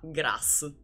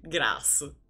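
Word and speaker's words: Graz: decina di chilometri da grasso che si pronuncia proprio così grasso come Alla faccia du cazzo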